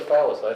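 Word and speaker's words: Falis: I'm Salis with an F A fallace that's why I asked thank you so this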